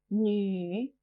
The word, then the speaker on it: 女: 女 female. 女女. This character can be a bit difficult to pronounce. It sounds a bit like a crossover between nu and ni.